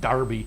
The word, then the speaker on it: Derby: for the Epsom Derby this morning I represent Derby as they pronounce it alright we'll take a break when